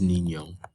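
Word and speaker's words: niño: boy in spanish is nino there is a nye over this o i'm sorry how do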